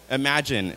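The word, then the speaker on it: Imagen: Imagine. It's spelled I-M-G-E-N.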